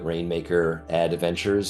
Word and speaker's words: Rainmaker Adventures: email me at Drew Rainmaker Adventures sort of like advertising Ventures is the play but it's spelled like Adventures um with a I love it